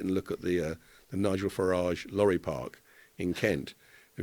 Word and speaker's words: Farage: It's like, what rhymes with Farage? I need some. Oh, no. So it just rolls off the tongue. Nigel Farage garage.